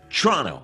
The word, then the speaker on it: Toronto: Toronto. It's like the local way, like you got to say Toronto. You don't pronounce the second T, which is the...